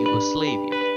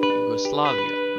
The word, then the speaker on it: Yugoslavia: that pronunciation is wrong it's actually pronounced as Yugoslavia with the word slav which is the name of the people that live in the